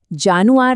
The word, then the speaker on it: Januar: हमेशा याद रखिए जर्मन में जे की आवाज य होती है ज नहीं तो यह जानुआर नहीं है यह है